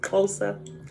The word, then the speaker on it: Xhosa: That's how you say it, Xhosa. I had to think about it because it's the click. I call it the click language, right?